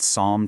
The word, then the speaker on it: psalm: Okay, take a good look at this word. P S A L M. This word is a total curveball. We're talking about a double whammy of silent letters here.